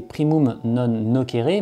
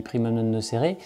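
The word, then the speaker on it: primum non nocere: nooceré primum non noeré ou plus exactement en latin comme on devrait bien le prononcer primum non noqueré mais bon personne ne dit ça tout le monde dit primum non noeré primum non noeré ça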